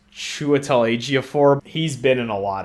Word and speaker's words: Chiwetel Ejiofor: It stars, I think this guy's name is pronounced Chiwetel Ejiofor.